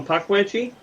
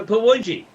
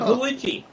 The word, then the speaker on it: Pukwudgie: It's a Pawudgie. Pawidgee. A Pawudgie. Okay. Well, The that's K is silent. the K is silent.